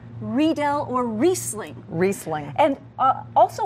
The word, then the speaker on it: Riedel: Riesling everyone says Riesling or Riedel glasses you know read old glasses but it's actually read L or Riesling Riesling and